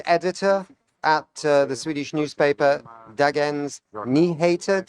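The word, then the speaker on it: Dagens Nyheter: Peter, you're a climate uh change editor at the Swedish newspaper Dagens Niha. Say it properly for me. Darens Niha.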